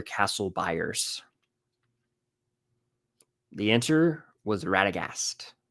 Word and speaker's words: Radagast: The answer was Radagast, spelled Radagast. But I did accept Ratagast because I know that it's pronounced that way sometimes.